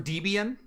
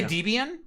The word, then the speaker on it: Debian: who created the distro Deb and Ian Debbie and Debian Debian if you say deviant you're wrong because the original creators said no this is how we we pronounce it yeah but people still